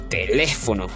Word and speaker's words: teléfono: Bueno, teléfono lleva la fuerza de voz el acento en la antepenúltima sílaba en le cuando se tildan, si